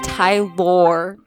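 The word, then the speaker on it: Tylor: wrong let's hear it it's Tyler but it's spelled okay oh yeah t y l o r it's Tai lore that's that DTC baby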